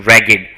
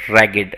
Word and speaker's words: ragged: so what is the pronunciation ragged so remember that so because e sound is there you can see that ragged rugged okay if something is ragged